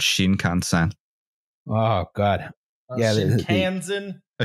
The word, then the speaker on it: Shinkansen: I just want to hear a lot of Texan dudes pronounce Shinkansen. Oh God! Yeah, Shinkansen. A Shinkansen. Yeah, rhymes with Wisconsin.